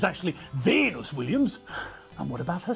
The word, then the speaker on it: Venus: stars just think people there's nothing difficult about the pronunciation of those two names Venus Serena no difficult sounds at all but still the commentators changed the names to Hungarian hybrids Michael J Fox drove